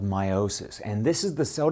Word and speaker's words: meiosis: Now, meiosis, notice that slight missing T? It's spelled M-E-I-O-S-I-S. So I slightly emphasize the E because meiosis can be